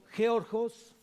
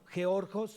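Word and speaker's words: γεωργός: Labrador viene del griego georgos con G al último también y acento en la O, georgos, en la segunda O lleva acento, y significa obrero.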